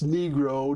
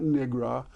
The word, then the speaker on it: Negro: said that's you know that's not how you pronounce it um it's Negro not Negra um and and then